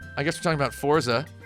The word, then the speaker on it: Forza: I guess we're talking about Forza. Forza. It's pronounced like the number 4.